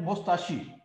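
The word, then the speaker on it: moustaches: इसमें एस जो है ना वो साइलेंट है, लिखते हैं बोलते नहीं है, मोस्ताशी बोलते हैं, एस नहीं बोलते हैं, ठीक है ना, एम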